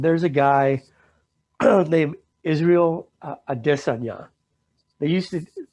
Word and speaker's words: Adesanya: adesanya they used to all the announcers used to pronounce it adesanya because they didn't they didn't know him they knew how to pronounce it then he became the champion at his weight class he's a ufc fighter he became the champion in his weight class now of course they learn how to pronounce it properly but he was talking